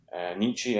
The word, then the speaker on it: Nietzsche: So Friedrich Nietzsche, Nietzsche, as Americans say.